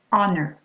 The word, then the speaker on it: honor: You're not going to say honor, you're going to say honor, honest, honesty, air, heiress,